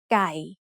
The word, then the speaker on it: ไก่: This is a middle class consonant, so according to the rule we just learned, ไม้เอก gives it a low tone. So we pronounce this word as ไก่ Maybe you already know that ไก่ means chicken.